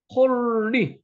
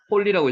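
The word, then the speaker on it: חולי: 여기에 오 발음이 납니다. 오 발음이. 그러면 오 발음이 나면 뭐죠? 홀리. 여기 이 발음이죠. 홀리. 홀리라고 있습니다. 요 라메드는 앞에도 이중으로 발음이 나는 거죠.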